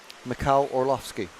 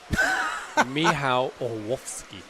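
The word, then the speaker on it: Mikołaj Orłowski: Can you say his name properly? Yes. Got him. Macau Orlovski. You messed it up. Miho or Wolfski.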